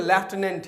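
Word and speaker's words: lieutenant: एन ए एन टी इसे जो पढ़े इसका प्रोनंसिएशन लेफ्टिनेंट है क्या है लेफ्टिनेंट इसे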